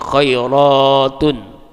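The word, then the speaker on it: خيّرات: Karena itulah maka ada sebagian ulama bacanya dengan bacaan tasdid, menjadi khairatun.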